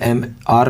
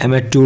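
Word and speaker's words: amateur: He became a gifted एमेच्योर, वो एमेच्योर होता शौकिया, वैसे MR नहीं प्रोनाउंस करते, एमेच्योर होता है, एमेच्योर।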